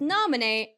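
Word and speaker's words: Naminé: It's Nominee, by the way, with the like little accent on the e, and she looks like this, and she's an artist apparently.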